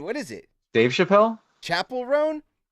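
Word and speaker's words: Chappell Roan: Chapel Roan? Online, they said it rhymes with Chappelle, like Dave Chappelle.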